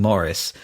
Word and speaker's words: Maurice: So we've just come out of watching Maurice, and after I spent basically the last 35 years mispronouncing the name of this film and book, so it's definitely Maurice and not Maurice.